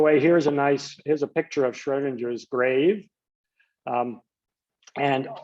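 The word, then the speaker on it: Schrödinger: By 1926, when Erwin Schrodinger, which is like some approximation of the correct German pronunciation, but now I'll just say Schrodinger like everybody else in the US. Schrodinger found an equation that describes these waves in mathematical detail.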